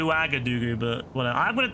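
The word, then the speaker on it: Ouagadougou: Waga Doo. Well, I got the last bit right. It's Wagger. It's Wagger. So, Waga Doo. I Well, I got the last part right. I said Waga Doo, but whatever.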